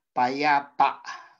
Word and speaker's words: payapa: Okay po, kasi po, mabagal binigkas payapa. Okay? So, mabagal bigkasin at mayroong impit na tunog, kaya po ito ay malumi. Sumunod po ay mukha.